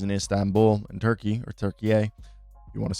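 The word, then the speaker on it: Türkiye: in which is in Istanbul in Turkey or Turkey if you want to say it correctly.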